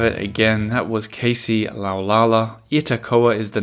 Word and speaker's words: Laulala: pronounce it again it's laala laala which kind of sounds a bit like o la la in French yes exactly and so